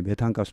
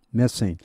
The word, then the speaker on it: methane: 이게 바로 이제 메탄가스 누출입니다. And its essential component. 이럴 때 그것의 필수적인 여기 컴포넌트는 구성 성분입니다. 자, 메세인 나오죠. 메세인. 이 발음은 메세인입니다. 메탄 하시면 아무도 못 알아듣습니다. 미국 사람들요. 메세인.